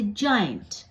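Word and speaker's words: giant: तरह करते है और अगर जी के बाद आई हो तो भी हम ज साउंड करते हैं जैसे जाइंट जी के बाद अगर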